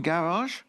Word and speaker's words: garage: we can tell because the sound in garage is not a native sound in English.